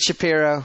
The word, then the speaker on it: Shapiro: it's not spelled it's like just can you pronounce it Shapiro like where really I have to remember it's